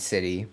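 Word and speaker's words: Siti: And I also learned how to pronounce everyone's names and what they typically go by. So we have Marsha, Wedi, and City.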